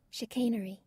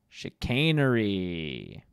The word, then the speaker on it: chicanery: figured it out let's see how that words pronounced chicanery chicanery I was right the first time but of